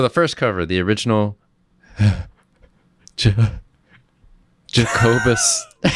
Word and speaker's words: Jacobus: It's Jacobus, yes.